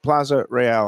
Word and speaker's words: Plaza Royale: Corvina Seafood Grill 110 Plaza Royale am I pronouncing it right it's not Plaza real it's real Plaza fancy South Plaza real south South Plaza real